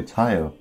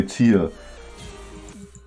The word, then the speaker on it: tier: Like, for me as a Dane, it just feels natural to say tire when I'm supposed to say tier.